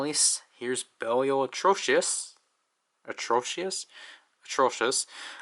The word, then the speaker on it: Atrocious: Atrocious. I combined the way that the Z Riser is going to pronounce it and how I typically pronounce it.